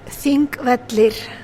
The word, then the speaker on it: Þingvellir: Þingvellir.